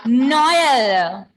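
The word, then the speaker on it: Noël: L'autre example, say Noel.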